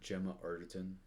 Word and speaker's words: Gemma Arterton: Gemma Arterton.